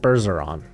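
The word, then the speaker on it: Bergeron: here see if I can find it so Burr siron bursaron what white out here says it's pronounced as so Matt berzeron I'm actually having a really good season uh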